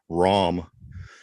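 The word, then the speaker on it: Rahm: John why you spell how you pronounce his last name r-a-h-m ROM John wrong he won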